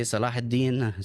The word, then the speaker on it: Saladin: So Saladin, how you say it? We say Salahuddin.